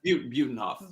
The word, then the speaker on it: Butenhoff: Butenhoff, Bootyhoff. Oh my gosh. Oh So my it's- gosh. It's Butenhoff, right? That's how it's pronounced? Butenhoff. Butenhoff. Like beautiful Buten.